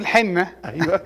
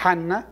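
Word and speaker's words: حنة: وطلع اسمها اسم تاني احنا طول عمرنا بقول الحنه الاسم الدارج الغلط للاسف لكن النطق صح حنه ده النطق السليم يعني وقصتها موجوده في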